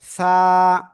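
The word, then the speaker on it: ث: জিহ্বার আগা, সামনের উপরে 2 দাঁতের আগায় লাগাবেন, এই যে আগা লাগিয়ে হালকা বাতাস বের করবেন।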